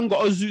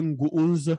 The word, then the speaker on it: Ngounze: Non, c'est pas Ngozu, c'est Ngounze. Ngounze, oui.